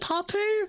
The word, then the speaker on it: Papu: it wait Pap Papu how do I say your name is it is it papoo I'm so sorry if I said that wrong I'm really sorry if I said it wrong but yes exactly like that you're right yeah like